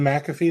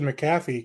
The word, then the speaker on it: McAfee: really cool and and McAfee that's how they pronounce it yeah that's McAfee yep okay because I've always said maffy because they you always do the the short Mick when it's like that type I don't whatever yeah